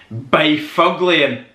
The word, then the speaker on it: Byfuglien: But if you were looking at this name like myself when I was trying to work out how you pronounced it, Byfuglien, big fucking ugly, and he's a big bruiser